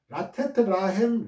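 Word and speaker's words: לָתֵת לָהֶם: 이는 단어의 첫 마디마다 라메드, 이 라메드, 이 꼬불꼬불한 이 라메드가 붙어 있어가지고 발음 라가 계속해서 두으로 읽혀짐으로 인해서 경쾌하고 즐거운 음악적인 효과를 나타내 주는 거예요.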